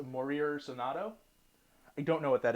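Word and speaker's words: Morir Soñando: Moira Sonato. No, it's not Moira. It's Morir Sonato.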